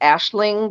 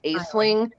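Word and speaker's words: Aisling: something and so um it's actually pronounced ashling because it's irish but you know americanized it's uh pronounced a sling and um i apologize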